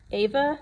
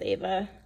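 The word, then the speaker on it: Ewa: So first full day, we went to Ava Beach. It's E-W-A, but Hawaiian language, the W's sound like V's, I think. So I'm probably pronouncing things wrong. But I think it's Ava Beach.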